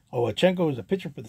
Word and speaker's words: Owchinko: of a kind from bob owenchenko i believe that's how you properly pronounce his name oh chenko was a pitcher for